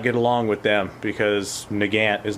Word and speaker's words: Nagant: I didn't care that I mispronounced Nagant.